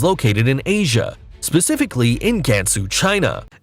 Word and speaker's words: Gansu: in Asia, specifically in Gansu, China. It's called Gansu, not Gansu.